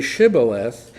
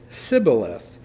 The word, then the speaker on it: shibboleth: would say to him then say shibboleth and he would say sibileth for he could not pronounce it right then they would take